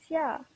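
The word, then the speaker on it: 下: Xia, which means down or below, and it pronounced xia. Notice how it has like the accent going down. So any other pronunciation with like, it has to go down for it to mean this certain word.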